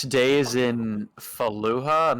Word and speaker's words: Fallujah: I want to gorge myself on the sense of 6 days in Fallujah. I'm not sure how to pronounce that. Fallujah.